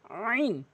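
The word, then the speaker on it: ع: দাল দাল লাম লাম আইন এই হরফটি মারাত্মক লেভেলের ভুল করে আইন বলে আইন চাপ দিয়ে বলতে হবে আলামিন বলতে হবে আলামিন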